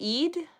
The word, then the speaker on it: Eid: It's just Eid.